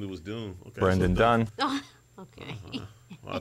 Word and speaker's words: Dunn: Is it Dunn? I thought it was Doom this whole time. For 3 years, I've been mispronouncing his name.